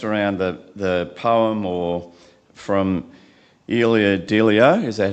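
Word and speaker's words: Ilia Delio: It's based around the poem or from Elia Delio. Is that how you pronounce it?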